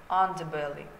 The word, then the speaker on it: underbelly: Pay your attention to the stress of the word. The first syllable is stressed, underbelly. Estimate, and I think shrink.